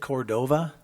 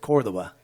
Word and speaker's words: Cordova: Vanessa Cordova. Vanessa, is it Cordova? Is that how you say it? Okay. When I lived in Argentina, we said Cordoba. So that's the original way.